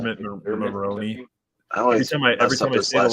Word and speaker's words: Mulroney: And then Maroney's character, did I say that wrong? Dermot Monroe. How do I pronounce his name? Dermot Mulroney.